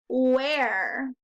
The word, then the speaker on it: where: page number five is where starts with a w got a silent h and the rest is tricky e r e where we've got five more